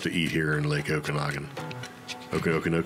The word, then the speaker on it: Okanagan: of good stuff to eat here in Lake Okanagan okay okay how do you say it Okanagan okay yeah yeah so I'm sure people go